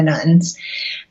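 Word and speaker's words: nones: So the nuns, and that's spelled N-O-N-E-S, not nuns like Catholic nuns.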